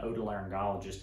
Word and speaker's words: otolaryngologist: here so i get asked what is an otolaryngologist and how do you pronounce it well that's how you pronounce it